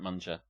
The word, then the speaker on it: munger: Number 1 cunt munger. I kind of like saying it like that, without a hard G.